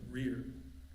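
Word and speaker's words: Wreay: She was a land owner in rear uh which does not like it's sad. You see the last word at the end of the caption that is pronounced rear.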